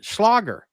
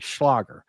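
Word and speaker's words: Schlager: Schlagger is the way they said pronounced something like Schlagger is a German word that literally means hit as in a hit song.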